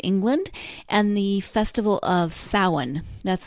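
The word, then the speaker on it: Samhain: Celtic Ireland and England and the festival of saw one that's spelled s am h AI n speaking of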